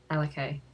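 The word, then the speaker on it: Alikaye: two cute little girls names put together and pronounced alakay a-l-i-k-a-y and for a boy well we might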